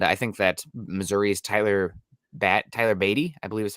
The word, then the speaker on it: Beatty: And I think that Missouri's Tyler Beatty, I believe is how it's pronounced, either Beatty or Batty. Batty'd be cooler, but I think it's Beatty, would be a similar player that you can probably get for around less cost.